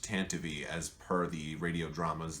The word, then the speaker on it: Tantive: first is the tantive 4 now I said tantive I am aware it is actually pronounced tanavy as per the radio dramas the audio books and the official Lucas film Canon but I don't say tantivy except for the purposes of explaining why I